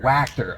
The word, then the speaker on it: Wachter: Wachter. Okay, Yeah. I was curious because I could not find the correct pronunciation anywhere.